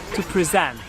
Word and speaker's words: present: onto that yellow wall you notice the difference in the noun you put it in the first syllable but if when it's working as a verb you put it in your second season and then in that case your pitch goes higher in the technical or in the first one depending here are some